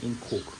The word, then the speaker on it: Ingco: Okay, as you can see, today what's in the box is Ingco, so I pronounce it Ingco, lithium-ion vacuum cleaner.